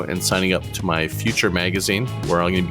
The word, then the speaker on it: Futur: And you can find us at The Future Is Here. And the future is spelled without an E. So it's Futur. Just remember, drop the E, go, and you'll be fine.